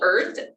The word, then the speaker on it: Irth: And she created this app called Earth, but it's spelled birth without the B. So it's IRTH, Earth.